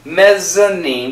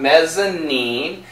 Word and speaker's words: mezzanine: mezzanine the little mezzanine mezanine get that z sound mezanine and laid in my